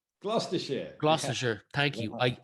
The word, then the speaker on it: Gloucestershire: From what I can see, you went to uni in Gloucester. Gloucestershire. Yeah. Gloucestershire. Thank you. Wow. I knew I'd mispronounced that when I saw it.